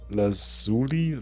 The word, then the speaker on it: lazuli: But creating the Lepis lazur lazuli laz. Would you please pronounce this product here?